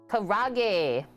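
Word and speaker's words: karaage: Karage, Blondie says. Just like that. We're learning. Order it correctly.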